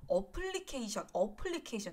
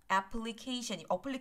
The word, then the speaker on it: application: 여러분 이거 어플리케이션 자꾸 이렇게 얘기하시는 분들 많으신데 어플리케이션이 아니라 application 없는 표현이에요. 없는 발음이에요. application.